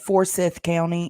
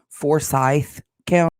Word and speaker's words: Forsyth: She keeps pronouncing it wrong, but Forsyth County is actually Forsyth County.